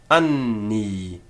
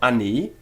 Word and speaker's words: anni: Anni. The first an in the first syllable and the second ni in the second. It's not anni, but anni.